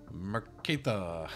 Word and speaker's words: Merektha: Merektha, that's just how you say it.